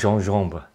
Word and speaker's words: gingembre: uh French for ginger otherwise spelled gingembre but pronounced jean-jumber um this is from